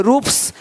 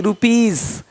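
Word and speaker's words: rupees: जैसे कि यहाँ पे रूप्स, यहाँ जा साउंड नहीं आएगा, लेकिन यहाँ पे एक्स नहीं एग्स। हीरोज, हीरोस नहीं, देख रहे हो, रुपीस नहीं रुपीज, ज का साउंड आ रहा है हल्का सा।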